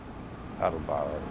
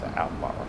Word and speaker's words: Attleboro: Attleboro. I pronounced it wrong. That's Attleboro.